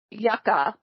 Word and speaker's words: Yucca: can you spell that can you pronounce that yaka why you CCA kind of like what fuzzy bear says when he goes yaka yaka yaka like waka waka oh does he